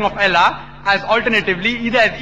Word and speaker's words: Allah: it's their language similarly we know how to pronounce correctly Allah they say Allah is a no problem the right pronunciation is Allah later on when Reverend